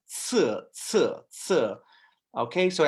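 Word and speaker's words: 四: you have sir and that s is actually pronounced like a TS sir Sir sir okay so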